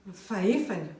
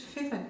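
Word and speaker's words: fahefany: Pour le quart, c'est faefen ou fefen. On dit le plus fefen, même si ça s'écrit faefen.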